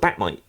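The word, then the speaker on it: Bat-Mite: idolizes Batman, but he's an interdimensional, character, and he calls himself Batmite. So, So is this spelled like Might or MITE? no, like Mite. Marmite? Oh, so like Marmite. Yeah, like Batmite. Okay.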